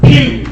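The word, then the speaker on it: Pugh: a name like Mr Pew okay now it's spelled it's not spelled p h e w it's spelled p u g h so make sure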